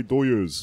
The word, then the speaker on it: Dodgers: these are my doyers. That's how you say it if you're Mexican in LA.